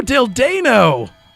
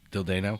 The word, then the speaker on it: Dildano: No, Dildano! That's how I'm choosing to believe his name is pronounced. Dildano? Yes. Like Paul Dano?